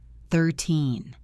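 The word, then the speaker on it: thirteen: 13 30 14 for tai 15 50 Hear that rhythm? It is a drum beat. The teen is heavy. The ty is light.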